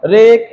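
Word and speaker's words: wreck: तो जब कभी भी डब्ल्यू के बाद आर आ जाएगा तो डब्ल्यू का उच्चारण नहीं करेंगे।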